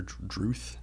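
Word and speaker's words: Drudkh: band's less popular pick with drut drut or druth if you're going by Lord of the Rings pronunciation with the Swan Road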